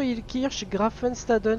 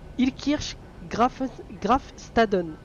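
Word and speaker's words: Illkirch-Graffenstaden: Donc on part pour Strasbourg, Ilkirch, Grafenstaden. Je vais bien le prononcer parce que sinon je vais me faire taper sur les doigts par on sait qui.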